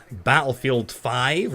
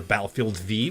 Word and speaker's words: Battlefield V: is about the upcoming battlefield 5 or battlefield V wherever you prefer I pronounce a 5 it's really safe its Roman numeral I but you know